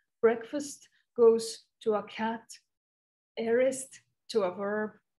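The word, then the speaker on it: aorist: tried to learn today it's arist or the way i would pronounce it is ourist a-o-r-i-s-t it's a it's a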